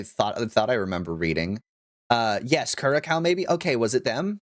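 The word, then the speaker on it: Curaçao: Yes, Curacao maybe.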